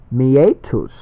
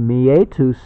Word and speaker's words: meatus: So it's kind of meat us. You know, meetups, meetup. Well, this is meet us. Meatus, it's Latin. I think I'm pronouncing it right.